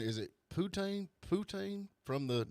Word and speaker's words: poutine: think i'll have some putin how do you say that poutine i've seen well p-u-t-i-n-e poutine some odd names on